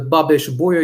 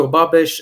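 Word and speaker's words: Babeș-Bolyai: name of the universe the correct way to pronounce it so i'm uh the head of international relations of the babish boya university includes romania the name of the university is from romanian medicine doctor victor babesh and hungarian mathematician for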